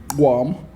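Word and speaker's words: gqom: Like a lot of Durban, Guam.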